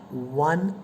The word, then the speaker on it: one: dash one eyed man so when you say one the letter is oh no doubt but how do you pronounce the letter o here va va va is not a vowel it is a consonant so that should take